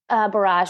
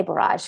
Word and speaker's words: borage: So first, borage or borage. I've heard it said both ways. I say borage because I feel like that's the right way to say it.